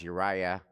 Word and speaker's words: Uriah: Uriah.